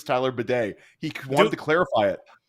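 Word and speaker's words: Badie: media to know that his last name is like the thing over in Europe that cleans your ass does he know what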